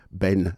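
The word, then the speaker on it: Behn: And speaking of rhythm, here's a track from the latest release from Vibes man Ben Gillech, and the album is called Stick Together, and this is Four of a Kind.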